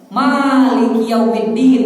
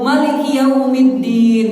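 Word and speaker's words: مالك يوم الدين: Ada dua cara bacanya. Maliki yaumiddin, ma-nya panjang, atau Maliki yaumiddin bisa juga. Itu dalam mazhab Maliki biasanya dibacanya panjang itu.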